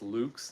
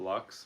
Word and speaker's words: Lux: It's Latin. It's Lux, not Lux, like they're saying.